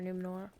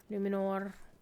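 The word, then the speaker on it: Númenor: roll your R for numor numor you got to roll it so we have a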